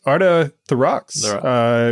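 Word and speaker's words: Orta Therox: to bring on board Arta the Rocks which I I believe I butchered correctly yeah that's that's perfect you got that just right thank you Jam Welcome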